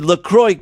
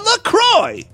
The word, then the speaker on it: LaCroix: we just love our Lacroix most people can't even pronounce Lacroix they think it's French by the way the